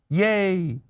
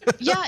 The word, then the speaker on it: Ye: I used to say ye like a loser because I didn't think about it, but it's just Kanye shortened to yay. Kanye shortened to yay.